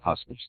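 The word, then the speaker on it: huswives: Pronounced husipry and huswips.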